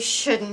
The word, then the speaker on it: should: Difícil de pronunciar. Should. La L muda. Sh-u. No es should, should. No dando beso, más Should.